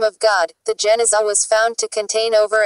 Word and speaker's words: Genizah: In 1896, a huge collection of medieval Jewish documents was discovered in a sealed room, Genizah, pronounced Geniza, of the Ben Ezra Synagogue in Fustat.